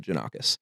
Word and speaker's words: Jannakos: So the real pronunciation of it is Jannakopoulos. Okay. That's like the real Greek version. Okay. But when my great grandfather came from Greece, they Americanized it to Jannakos.